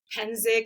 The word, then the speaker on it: Psencik: I'm used to it I don't get offended hensic is how you pronounce that last name thanks to my amazing